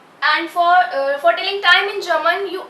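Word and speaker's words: vor: Second is for. In German we also pronounce V as F. Alright? So for. For means before.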